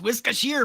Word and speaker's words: Worcestershire: It's pronounced it's pronounced Worcestershire, fool.